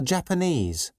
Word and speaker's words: Japanese: from Lebanon is Lebanese things from Japan are Japanese people from Nepal are Nepalese goods from Vietnam